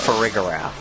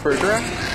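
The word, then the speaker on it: Farigiraf: I don't like that it's pronounced ferigor. It's a giraffe. Is it not pronounced frigraph? It's it's friigar.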